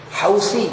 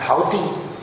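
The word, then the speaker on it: Houthi: dirampok oleh pemberontak Syiah alhusi hausi bacanya bukan hauti hausi itu ejaan Inggris ejaan Inggris itu sa itu ditulis th jadi kalau kita ke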